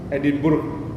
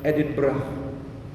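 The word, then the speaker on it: Edinburgh: luen nanti dialek Scotland kalau jenengan baca tulisannya e d i n b u r g h edinburg Bacanya apa edinburg kan ternyata lafaznya yang fasih menurut lidah Scotland adalah edinbah edinbah jadi makanya kalau sudah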